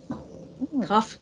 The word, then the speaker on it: cough: Cough, cough. Can you check the pronunciation when cough. You say cough, put your lip against your teeth like that.